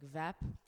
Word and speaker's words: WEPP: Also, I would just like to shout out for WEP. If we're saying your name wrong, we're sorry. Yeah. Because I think he says like VEP. WEP. Sounds Yeah. German.